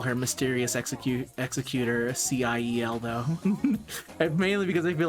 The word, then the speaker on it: Ciel: Executioner Ciel, or as everyone else calls her, Ciel. Not Ciel. Sorry, Ciel.